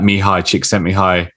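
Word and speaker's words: Mihaly Csikszentmihalyi: There's like a psychological argument for it, where he draws on that Mihai Csikszentmihalyi, the guy who wrote Flow that we nice.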